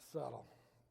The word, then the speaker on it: subtle: And uh I just it looks like subtle but you pronounce it subtle.